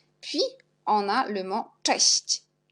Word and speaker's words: cześć: Puis, on a le mot cześć. CZ, on prononce ch. Et S avec l'accent, on prononce si. C avec l'accent, on prononce ci. Czyli cześć.